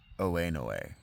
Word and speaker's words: Oenoe: I think that's pronounced Winnowe. Okay. It might be Oenoe.